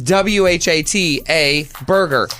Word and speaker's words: Whataburger: see the word w-h-a-t how do you say it what we're not talking about that we're talking about the right the name of the spelling of the burger is w-h-a-t-a Burger what a burger actually